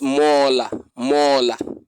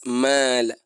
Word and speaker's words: مالا: And it's not mola, it's not mola, it's mala mala.